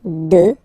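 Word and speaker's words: deux: Final X not pronounced, okay? 2. 3.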